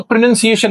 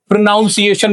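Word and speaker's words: pronunciation: बहुत सारे लोग तो प्रोनंसिएशन नहीं बोल पाते। प्रोनाउंसिएशन बोल देते हैं।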